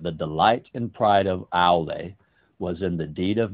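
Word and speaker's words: Aulë: I said Aeol, but it's Ale. I always pronounce him wrong, but I know how to actually pronounce him.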